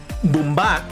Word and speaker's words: Boombah: Boombah and we got Boombah I should say it has the accent on the A boombak and next so these are